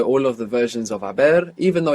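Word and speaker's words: haber: And of course, we have the silent h there in abber. Abber is to have in the sense of I have eaten.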